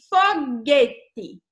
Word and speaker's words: foguete: Olha só, aqui tem foguete. Foguete, você pronuncia esse U?